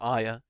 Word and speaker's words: Arya: that's an idea um speaking of Arya or Aya as she called herself but it's spelled with an R okay um you didn't